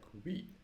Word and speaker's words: Vite: This is the small overview, and they actually have the instruction how to pronounce Vite, and it sounds like Vite. So not white, Vite.